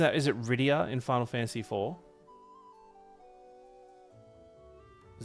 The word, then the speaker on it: Rydia: Rydia? Am I pronouncing that? Is it Rydia in Final Fantasy IV?